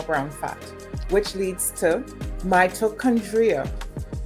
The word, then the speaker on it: mitochondria: You can activate more brown fat, which leads to mitochondria. Mitochondria, that's how it's pronounced.